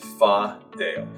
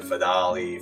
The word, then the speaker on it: Fadale: pronounce my name is fa dale video so it's interesting there's many pronunciation fidali fideli but is how i pronounce it today when you were